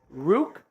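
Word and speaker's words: Ruke: it but it is quite literally Rook as in it rhymes with Juke ooo let me see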